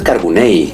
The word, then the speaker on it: Carbonell: Pero, y además es Carbonell, de acuerdo a la pronunciación catalana.